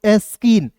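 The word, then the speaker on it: skin: देखिए एस का आधा स होता है, ठीक है, के का दोस्तों क लिखना है, एन का न लिखना है, और आई है तो इसका उच्चारण ई के रूप में करेंगे, हो जाएगा दोस्तों एस्किन, एस के आई एन एस्किन, ठीक है।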